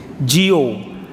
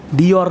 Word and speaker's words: Dior: Indonesia ucapinnya salah semua Jio Dior Bu di or itu bacanya Jio tuh Indonesia salah semuanya semuanya Hai HP yang